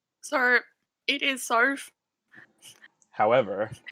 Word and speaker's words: Soph: do you want to tell everyone how to pronounce your name sorry it is sorf however it's pretty much it's pretty much a